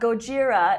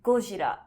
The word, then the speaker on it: Gojira: not even true either because it's not gojira it's guljira like the da is not raw and the g is not g gojira and gojira two different things yeah so godzilla is